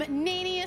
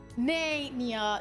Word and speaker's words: Nanius: I am Nanius. Yes, that is how you pronounce it. Nania. No, I swear to God, there's only one person that calls me Nania, and I've given up trying to tell her otherwise.